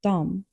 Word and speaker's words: de: Note that "de" is written as "de" but often pronounced like "dom" in spoken Swedish.